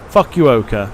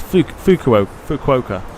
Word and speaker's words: Fukuoka: Fuck you, Oka. There you go. That's where we're going. It's not. It's Fukuoka.